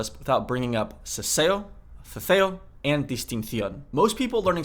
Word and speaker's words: ceceo: Spain along the coast, there is something called ceceo. Ceceo does not make any distinction between S, C, or Z. They're just all pronounced like a th sound.